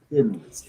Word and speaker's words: Thin Lizzy: Um, so when you say Tin Lizzy in Scottish, it's T H I N. That's how you would pronounce it. So that's why they became thin Lizzy.